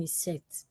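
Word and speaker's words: isset: isct people call it some people pronounce it as is set why I pronounce that I set it sounds more reasonable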